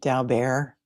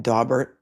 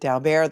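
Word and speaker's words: Daubert: Um, and um, can I just say that I am so appreciative that both of these attorneys pronounce it da bear rather than dobert because when I went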